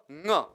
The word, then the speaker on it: ङ: तो एक तो इसका उच्चारण आपको ड नहीं करना, कहीं भी क्या उच्चारण करना है, ङ करना है। ङ ङ ङ, अंग नहीं पढ़ना, अंग नहीं है, ङ अ नहीं पढ़ना, ङ पढ़ना, ङ।